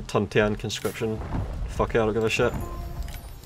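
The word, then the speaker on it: 屯田: I started out saying Tuntian conscription, and then in the last video, I fucking corrected myself to Tunshin, because that's the contemporary pronunciation. Like, if you look up how to pronounce Tunshin in Tuntian on, like, fucking YouTube videos or dictionaries, you'll hear Tunshin. But the actual proper Chinese is Tuntian.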